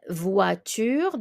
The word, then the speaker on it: voiture: Une voiture. The OI is the wa.